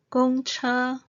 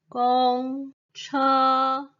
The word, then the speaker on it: 公車: tone 餐廳 restaurant next 公車 bus 公 and 車 are pronounced with the first tone 公車 bus coffee 咖啡 a